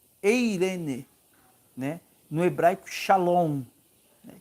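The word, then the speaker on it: εἰρήνη: Eh, o, a pronúncia no grego é eirene, eirene, né?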